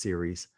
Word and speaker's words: Ceres: Ceres, that's how it's pronounced, Ceres, is the goddess of harvest.